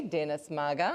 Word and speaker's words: Dennis Maga: I was very lucky to meet him actually outside, so I was able to learn how to pronounce his name properly, Dennis Maga. I believe I've got that correct, yes?